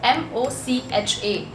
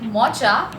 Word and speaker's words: mocha: this particular coffee now the spelling is of course mocha but it is m-o-c-h-a so rather than pronouncing it mocha the correct pronunciation is mocha now this particular coffee